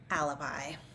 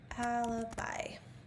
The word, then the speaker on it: alibi: So, it is super easy, but the pronunciation is tricky. How do you say this in English? Alibi. Alibi.